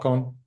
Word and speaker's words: Håkon: Håkon? Yeah, King Haakon, Yeah, okay. Yeah, Håkon the Good. Haakon. That's how I know how to spell it. So Yeah, H A long A K O N.